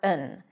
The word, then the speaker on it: an: Both of them are pronounced with awah when unstressed.